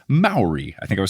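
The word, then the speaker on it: Māori: correction for last episode the correct pronunciation of a word I was trying to say and I hope I'm saying it right this time based on their instructions is Maori I think I was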